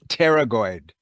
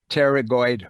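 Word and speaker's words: pterygoid: a muscle in there it's called the teroid it's spelled PT R teroid muscle and that muscle is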